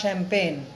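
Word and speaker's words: champagne: আমার ডাক্তার আমাকে কোনো কিছুই পান করতে দেবে না বাট শ্যাম্পেন। CHAMPAZNE, উচ্চারণ হলো শ্যাম্পেন।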